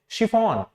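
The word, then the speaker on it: chiffon: शिफॉन। शिफॉन। तो ये जो शी है ये किससे बनना है? CH से ही बनना है, शिफॉन।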